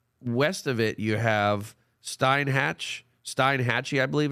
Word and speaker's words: Steinhatchee: Oh, it's Steinhatchee. Yeah, okay. So I want to make sure that again pronunciations.